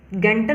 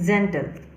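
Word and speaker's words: gentle: जैसे जी यहाँ ई के साथ है तो इसको हम लोग गेंटल नहीं पढ़ेंगे, इसको हम लोग जेंटल।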